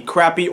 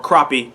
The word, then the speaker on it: crappie: But if you're from the North or Midwest, you have French people there, so they actually pronounce it crappie because the French word crappe is how you pronounce it.